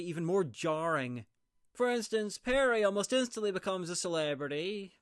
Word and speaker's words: Peri: Well uh Perry actually, but the fairy and I spell it the same.